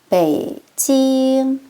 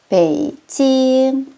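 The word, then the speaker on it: 北京: 우리 북경의 정확한 중국어 발음은요. 삼성일성이에요. 베이 찡 베이 삼성으로 떨어뜨리시고요. 찡 일성으로 유지해 주실게요. 베이징 여건입니다.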